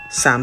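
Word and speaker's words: Samhain: I would like to start with sa spelled Sam ha but pronounced sa as it is a galic word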